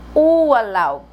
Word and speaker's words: Urlaub: Olha como nós vamos pronunciar esse R. Urlaub. E o B é mudo.